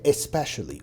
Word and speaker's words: especially: نروح على الكلمه الثانيه اللي هي especially، وهنا خلي نطق حرف الاي اللي في البدايه واضح جدا عشان تعرف او تبين الفرق ما بين الاثنين.